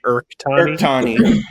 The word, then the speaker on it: Urchtani: I do it with like a K. Urchtani.